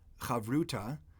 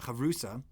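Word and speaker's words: חברותא: That's called a chavruta. Often in more Ashkenaz pronunciation, it's a chavrusa.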